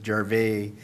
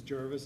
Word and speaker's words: Jarvis: Well, the only problem I have is with the pronunciation of Jarvis Street. Okay. Is it Jarvis? It's pronounced Jarvis, but everybody says Jarvais when it's Because pronounced it's- Jarvis.